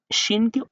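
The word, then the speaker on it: شين: ৩টি মাথার উপরে যখন দেখবেন ৩টি নক্তা, তাহলে ওই হরফটাকে এই সিনের তুলনায় শিনকে অধিক মোটা করে উচ্চারণ করতে হবে। যেমন শিন, শিন, শিন, صاد صاد صاد ضاد ضاد ضاد طا طا طا।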